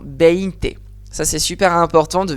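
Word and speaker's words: veinte: Je dis pas biente, je dis pas neinte, je ne sais pas quoi. Non, beinte.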